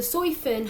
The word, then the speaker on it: Soi Fon: that how you say her name sorry so soy Finn had attacked both of them um basically calling